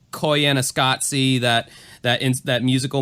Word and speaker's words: Koyaanisqatsi: films that probably other people haven't seen like Koyaanisqatsi that that into that musical movie that I've